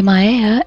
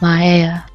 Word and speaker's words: Mayeia: profile well of course it's going to be maya and for those of you cannot spell it is m-a-y-e-i-a but it's pronounced maya i've been debating back